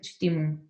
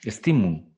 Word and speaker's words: Stimmung: Entonces, ¿Puedes pronunciarla? Stimum. No, Stimmung, ya que no hay traducción, a lo mejor podemos sentirla, sí.